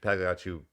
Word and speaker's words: Pagliacci: Pagliacci. The G is not loud. The G is silent.